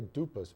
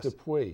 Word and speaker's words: Dupuy: They say Dupas, but it's Dupas. Dupuy. Oh, Dupuy.